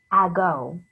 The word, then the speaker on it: ago: that says go and here's this a this is the schwa sound it says uh it says this sound ah but it's spelled with an a you don't say ago a long time ago